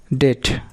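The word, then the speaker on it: debt: ডেট, doubtful, এখানে বি অনুচ্চারিত থাকতেছে।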